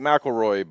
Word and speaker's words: McCleary: front straightaway I was Paul McCleary or Macquarie I should say I keep butchering that name he came up here yesterday and told me how to pronounce it so he says like McElroy but Michael Reed Michael